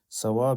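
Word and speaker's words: صواب: Yeah, so now this is not thawab. Don't get the two confused. Okay, thawab means reward. So some people pronounce thawab with a sawab. No, that's reward. And sawab with a sad, it means correct, the opposite of mistake.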